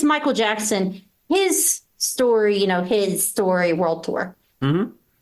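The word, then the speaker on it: HIStory: So for those who aren't familiar, why I said his is when you look at it, it's spelled like HIS. It is His capitalized. story. So it's supposed to be Michael's story.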